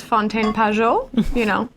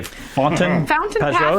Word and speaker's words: Fontaine Pajot: And so I've always understood as pronouncing as Fontaine Pajot, What? How do you guys say? Fountain Pajot?